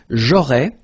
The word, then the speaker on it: aurais: J'aurais, so final S, not pronounced, j'aurais.